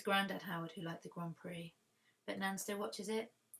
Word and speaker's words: Grand Prix: howard we watched the grand prix you don't pronounce grand prix how it's written dear diary the x is silent this is why french